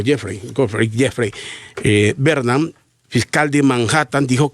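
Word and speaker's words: Geoffrey: El fiscal Jeffrey, así es que se pronuncia, Jeffrey Bernam, fiscal de Manhattan, dijo que se trataba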